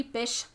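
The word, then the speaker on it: Bysshe: then why the is it spelled with a y i don't know but his name is percy bish shelly which i have like a pet peeve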